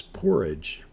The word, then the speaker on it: porridge: And this word is porridge. P-O-R-R, porridge, I-E-D-G. That E is silent in this word, porridge.